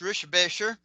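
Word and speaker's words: Richebächer: I've actually met Kurt Rickenbacker, which is actually pronounced Rischbecher.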